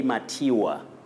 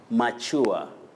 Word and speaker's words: mature: Nobat Wengu, you say mature, but you can also say mature. Mature. To mature up. To mature is also acceptable.